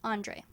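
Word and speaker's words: Andrie: Casey and Mark Andre spelled a n d r i e but pronounced Andre though delin asks me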